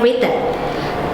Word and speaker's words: written: Bacanya bukan writen ya, sayangnya written dia itu silent w. Silent letters. Jadi dia silent W.